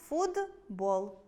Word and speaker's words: футбол: Наприклад, у слові “футбол” поруч стоять звуки [т] і [б]. Дзвінкий [б] впливає на попередній глухий [т] і у вимові звук [т] перетворюється на свій парний дзвінкий [д]. Тому хоч пишемо футбол, вимовляємо . Які ж є види уподібнення?